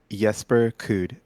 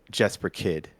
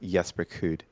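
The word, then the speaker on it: Jesper Kyd: Jesper Kuhd, or as most Americans would say, Jesper Kid. Jesper. Okay. But Yes. but the proper pronunciation of his name is Jesper Kuhd.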